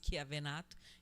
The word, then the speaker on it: Chiavenato: que é esse autor, Chiavenato. Eu pronuncio assim, tem quem pronuncie Chiavenato e por aí vai.